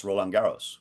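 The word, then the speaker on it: Roland-Garros: the French it's not the French open it's rolaros which easiest thing for a lot of people to pronounce and from what I've been told almost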